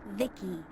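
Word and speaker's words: VICI: By the way, I'm V-I-C-I, pronounced Vicky.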